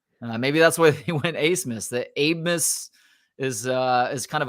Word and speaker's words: Abmas: Has somebody found out why Max's last name is pronounced Asmus when there's no S that's the second letter? There's a B that's the second letter of his last name. Yeah, Abmas. How do you get Asmus from that?